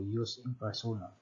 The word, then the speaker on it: jus in personam: Ang J class sa Latin is pronounced as Y. So, jus in personam.